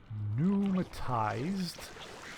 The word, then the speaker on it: pneumatized: num num bloody hell pneumatized therapist this is your daily pronunciation exercise repeat after me it's pneumatized carrus that p is silent just think back to